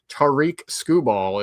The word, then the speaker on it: Tarik Skubal: Tarik Skubal is how I say his name.